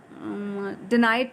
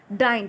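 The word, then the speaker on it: deigned: गया, हु had hardly डिनाइड टू the look at the stranger. डाइंड, sorry, the exact pronunciation of this word is डाइंड.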